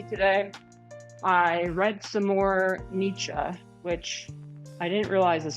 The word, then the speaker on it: Nietzsche: I read some more Nietzsche, which I didn't realize this whole time, which sorry for the Germans in the chat.